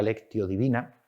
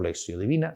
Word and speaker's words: lectio divina: elemento la lección divina la lectio divina o lexiodivina Según como se quiera pronunciar el latín que es una lectura